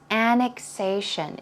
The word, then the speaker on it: annexation: for you here is annexation. If you take a look, although it's A-N-N-E-X, yes, if you take a look at the pronunciation, it's more of an ick sound. It's not ek, it's ick, ick.